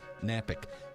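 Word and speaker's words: Knapick: That's Napick, K-N-A. The K is silent.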